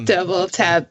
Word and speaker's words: DBLTAP: It's Double Tap, but it's spelled DBLTAP.